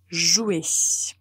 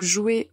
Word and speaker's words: jouer: vous l'utilisez au présent il faut juste faire attention à ne pas prononcer certaines lettres qu'il ne faut pas dire qu'il ne faut pas prononcer je vous dis la prononciation du verbe jouer au présent et n'hésitez